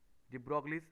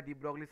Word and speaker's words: de Broglie: লেখো বোরস quantum condition, বোরস বোরস quantum condition from de Broglie's hypothesis, de Broglie's hypothesis, actually উচ্চারণটা de Broglie's hypothesis। তো তোমরা ছোটবেলায় ডি ব্রগলিস হাইপোথিসিস মানে ক্লাস 11 এ পড়েছো ডি ব্রগলিস হাইপোথিসিস।